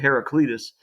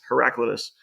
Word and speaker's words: Heraclitus: speech and some people he pronounces it herac Cletus it's heraclitus uh is a a